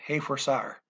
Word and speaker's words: reforçar: Reforçar, forgot to pronounce the leading R as an H. I'm nervous, what can I say? Reforçar, okay.